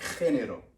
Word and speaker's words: género: But in Spain, it would be more like a phlegm to it. It would be like género, all right?